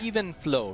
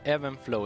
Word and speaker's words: Even Flow: song is called here even flow right not Evan flow is it ever met